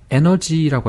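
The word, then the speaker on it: energy: 그래서 college 해버리면 이상한 발음이 되는 거고 그런데 에너지라고 할 때는 이 몸이 있어요.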